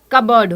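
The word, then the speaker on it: cupboard: Wardrobe, wardrobe होता है, closet होता है एंड कबर्ड होता है। कबर्ड में ना पी साइलेंट रहता है।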